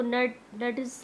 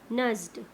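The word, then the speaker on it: nudged: Okay, रिया नज, इसको नड्स नहीं बोलना, क्या बोलना है, क्या प्रोनाउंस करोगे, नज्ड।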